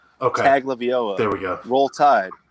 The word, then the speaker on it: Tagovailoa: I believe it's I don't know how to pronounce it. Let me consult our expert. Okay. Tua Tagovailoa. Oh, Tagovailoa. I'm hearing it's Tagovailoa.